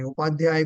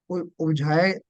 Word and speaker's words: उपाध्याय: आचार्य को नहीं करेंगे, उपाध्याय को उपझाए, या उपझाए कहाँ पर है वहां उपझाए पढ़ना, जहाँ उपाध्याय लिखा है वहां उपाध्याय पढ़ना।